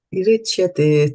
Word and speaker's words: atiricyate: Atiricyate. Today's verse is killing you, right? It's got so many T's there and you want to pronounce it as a TH and then you stop yourself.